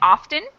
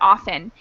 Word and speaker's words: often: sometimes i will say often and sometimes i will say often it kind of depends on the situation like i think for some reason when i'm teaching classes i pronounce the t more frequently then when